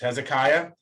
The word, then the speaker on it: Hezekiah: It's Hezekiah, and everything and things like there's a guy named Hilkiah. Generally, I's before A's are always Aya. So like Hilkiah, Eliakim, Hezekiah, that sort of thing.